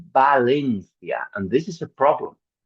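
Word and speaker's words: Valencia: But unfortunately in Spanish the people don't differentiate. So we say balencia.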